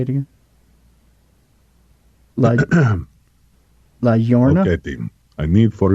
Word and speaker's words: La Llorona: La Llorona. La Llorona. La Llorona.